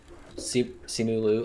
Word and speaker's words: Simu Liu: How do you pronounce the main actor's name? Simu Yeah. Simu Liu.